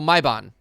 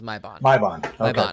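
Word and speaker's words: Maibagne: go look at it m-a-i-b-a-g-n-e yep that's it oh my bond that's that's how they pronounce is my bond there we go so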